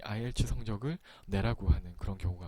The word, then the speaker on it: IELTS: 그리고 이 밑에 있는 이 시험은 어떻게 발음할까요? IELTS라고 보통 말을 하는데요.